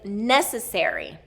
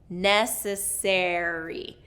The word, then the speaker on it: necessary: The next one is necessary. There's actually 2 stress syllables in this one. The first and the 3rd syllable stress. Necessary.